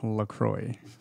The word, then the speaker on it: LaCroix: it up yup go ahead and it is pronounced lacroix for those of you who are wondering maybe